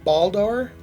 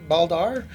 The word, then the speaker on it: Baldr: It's a 500 watt by Baldr, I think is Baldr. It's B-A-L-D-R is how you pronounce it.